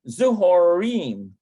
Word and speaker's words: צהריים: It's a kind of a difficult one to pronounce. צהריים. Zuhorim.